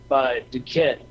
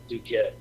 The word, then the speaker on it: Duquette: But the one the ceremonial magic by Duquette, that's the one.